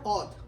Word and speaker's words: Audh: Now these peasants in Awadh, we have read that Awadh or Audh, O-U-D-H also it can be pronounced.